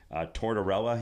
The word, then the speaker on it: Tortorella: Tortorella.